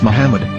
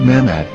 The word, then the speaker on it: Muhammad: Ben yehuda's Hebrew English dictionary it is correctly pronounced as Muhammad not mamat so how we're going to know for sure